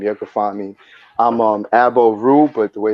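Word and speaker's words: Aboru: I'm Abo Ru, but the way it's spelled is AB_O_RU.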